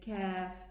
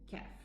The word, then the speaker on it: ك: Then comes the kaf below. So we have the qaf and the kaf, they are both pronounced from the furthermost tongue.